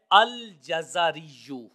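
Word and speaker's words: الجزري: نے بیان کیا ہے یہ ہے الجزریو، جیم اور زا کے اوپر زبر ہے اور را کے نیچے زیر ہے۔ اللہ رب العزت ہمیں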